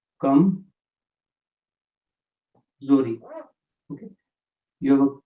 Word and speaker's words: कमजोरी: And the word for weakness is kamzori. Okay, so you will say kamzori.